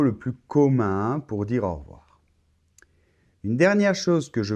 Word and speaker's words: au revoir: e de re voir cette lettre e quand on parle un peu comme ça rapidement au revoir on ne l'entend pas et ça c'est très